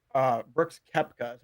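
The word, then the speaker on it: Koepka: the show I wanted to say uh Brooks kepka is how you say his name I I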